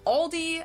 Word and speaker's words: Aldi: Or they also sometimes add an S that isn't there in the end and say Aldi's in German.